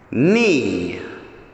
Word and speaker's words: knee: before the letter k yes there is so what do we do we cross out the silent k knee okay let's do